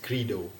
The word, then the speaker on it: Credo: Throughout this video, I mispronounced the company name Credo. The correct pronunciation is Credo.